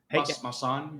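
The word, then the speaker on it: Maussan: Masal, how would you pronounce his name? Masan, you know, Masan.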